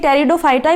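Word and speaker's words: Pteridophyta: इसको भी हिंदी में टेरिडोफाइटा बोला जाता है इसमें जो स्पीड है वह क्या होता है साइलेंट होता है इसलिए इसको टेरिडोफाइटा बोला जाता है टेरिडोफाइटा है वह ड्राइव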